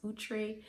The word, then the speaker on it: Outre: I used to say outre and then I found out it's pronounced outre.